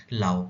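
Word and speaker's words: Laos: एल ए ओ एस तो S silent हो जाता है एल एओ बोलते हैं लाओ लाओ क्या है लाओ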